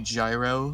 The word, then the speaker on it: GyRoEsEhNi: to pronounce it before most people do say gyro SNA they try to take the most literal interpretation of it some people just call me gyro which I'm cool with